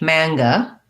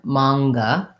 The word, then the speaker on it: manga: british manga american manga so we have our um ng sound mang mang um sometimes the letters ng will just say an n in the middle like um like singer singer that we just have the ng sound or but in words like hunger or finger we have an n plus a g so manga is like that um and then the